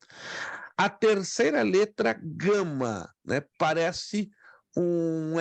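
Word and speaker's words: γάμμα: E a letra gama é pronunciada como a letra G de guerra.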